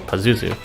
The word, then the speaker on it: Pazuzu: now move on to Pazuzu that is in fact how you pronounce his name apparently just says so this will be covered